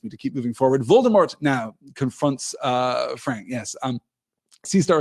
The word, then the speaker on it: Voldemort: Oh, vol rhyming with ball, says Cecil. So, Voldemort. Right. Okay, I can see that. Interesting. Yes. Okay, not vol like the rodent.